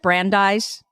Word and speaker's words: Brandeis: University and a master's degree and is it Brandeis yes oh my God normally at the beginning